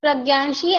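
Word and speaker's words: Pragya: I don't know it's hard for me to pronounce it let's see nick name yeah ma'am my name is pranii and you can call me p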